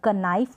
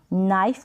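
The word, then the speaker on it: knife: नो पढ़ेंगे यहां पर क नाइफ नहीं पढ़ेंगे नाइफ पढ़ेंगे क नाइट नहीं निट और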